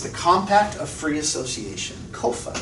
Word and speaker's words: COFA: COFA is how it's pronounced. C-O-F-A.